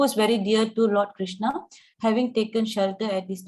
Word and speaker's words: Krishna: The words Hare, pronounced Hare, Krishna, pronounced Krishna, and Rama rhymes with Rama are Sanskrit words.